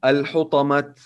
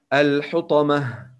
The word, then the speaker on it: الحطمة: When we stop on التاء المربوطة in this example, we should pronounce it هاء. We don't say الحطمة. No, it's wrong. So we should say and we must say الحطمة.